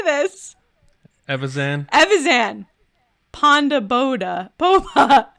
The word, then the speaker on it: Evazan: Evazan.